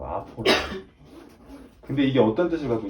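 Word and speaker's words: ἀφοράω: 뭐 이거 굳이 아포라오라고 읽어요. 헬라어로 아포라오.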